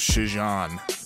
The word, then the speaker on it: Chijon: cannibal gang the and this is spelled CH i jo n so I'm gonna be pronouncing it as she's on but it's about the